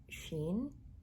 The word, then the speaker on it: Shein: from a website called sheen or shane but i think it's pronounced as sheen yeah so um nadito